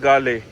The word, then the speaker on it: Galle: क्योंकि श्रीलंका का आप मैप देखो तो उसके बाद कोलंबो और एक और सिटी है गाले या गॉल बोलते हैं उसको, GALLE ये स्पेलिंग है उसकी।